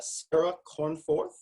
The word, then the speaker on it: Cornforth: an interview today with a wonderful person uh Sarah cornforth did I pronounce that correctly Sarah you did perfect yes